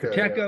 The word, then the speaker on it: Pacheco: Pacheco, yeah.